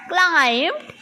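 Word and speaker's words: climbed: ठीक है, तो लास्ट में ईडी आ गया तो आधा ट आधा ड मिक्स कर कर बोल देना है. क्लाइम्ड है ना, क्लाइम्ड ऐसे बोलना है ना.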